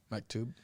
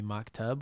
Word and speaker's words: Maktub: Mub. Maktub. But of course there's a lot of jokesters around us that will call me Mocktub or really as Karen will say, "Oh, backwards.